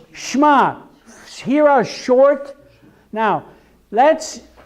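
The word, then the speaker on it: שְׁמַע: even have it there if it's Sh'ma it's not Shaima it's not Shaima it is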